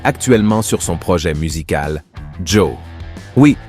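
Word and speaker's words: Djo: sur son projet musical Jo oui cela se prononce exactement comme son prénom et son groupe était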